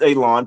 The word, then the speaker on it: Elon: me, my name is Elon, pronounced like you're going to cut grass, like you're going to cut a lawn. It's not spelled that way, but it is pronounced that way.